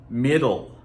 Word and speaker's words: middle: We had it before: middle, middle, little, little, middle, little. We pronounce those exactly the same, at least for most people. We don't really, some people will try to tell you we say little, but in actual production